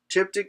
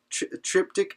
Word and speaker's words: triptych: term in art called a triptych and Dipti not a tip tick and it you could say it right triptych and a diptych are